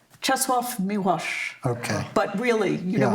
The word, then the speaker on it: Czesław Miłosz: I tried to imitate how his American wife said it, which was Czesław Miłosz.